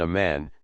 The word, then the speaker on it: Oman: iron helmet would stun a man says La Roi a 19 Oman which the natives pronounce Aman is the region best